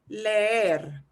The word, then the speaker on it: leer: And now we've got two E's next to each other. So that means we'll pronounce them each. So it'll sound like I'm dragging it out. It'll sound like this. Leer.